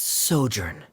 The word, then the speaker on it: sojourn: everything clear uh director zosimos how do you pronounce this word let me see Ah that's sojourn it means to stay for a while word